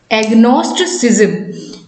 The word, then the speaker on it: agnosticism: कहेंगे, एग्नोस्टिज्म, ठीक है, एग्नोस्टिज्म, ठीक है, एग्नोस्टिज्म, एग्नोस्टिसिज्म। तो थोड़ा सा इसका स्पेलिंग पर आपको ध्यान रखना है, एग्नोस्टिसिज्म, ठीक